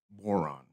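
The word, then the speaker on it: Bodhrán: It's called a tipper, and it's spelled Bodhran, and it's pronounced boron.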